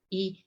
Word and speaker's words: y: here the why because remember the Y in Spanish we pronounce like II and means and I am son of Susan and Max you're so evil death susana e de marks is the